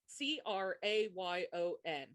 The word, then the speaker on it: crayon: Do you pronounce it with one syllable, rhymes with man? Two syllables sounds like crayon. With two syllables, where the second syllable rhymes with dawn.